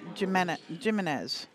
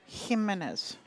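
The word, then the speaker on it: Jiménez: Platinum team division wants to jump on another platinum team for And yes, that is how you say second his last name, Jimenez. His last name is not Jimenez. It is Jimenez.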